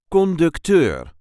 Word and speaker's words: conducteur: There is a light emphasis on the last syllable. Conductor.